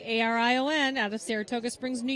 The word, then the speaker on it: Arion: Third behind them is number 3, ARION, out of Saratoga Springs, New York, Ashley Johnson and Morgan Hummel. So it is pronounced Orion.